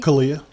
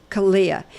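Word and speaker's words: CALEA: Kalia. Kalia.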